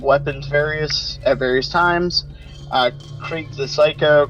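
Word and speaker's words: Krieg: can dual wield weapons various at various times Creek the psycho Craig how we pronounce it is fire melee and gauge the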